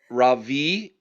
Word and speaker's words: Ravi: Ravi is how he pronounces his first name. R A V I is the spelling.